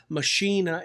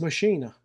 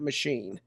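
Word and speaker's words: Maschine: Thing is is are you going to use Machina? And I on the side note, I believe from what I understand it is pronounced machina, not machine, even though it looks like it with an e on it.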